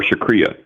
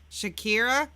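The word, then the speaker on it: shukriya: bahat before dhanyavad or shakria oh shakria Shakira no you said it right the first time and then you went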